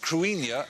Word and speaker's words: Cruithne: Cruithne is pronounced Cruinia, and it's actually Celtic, and its orbit was discovered in 1997.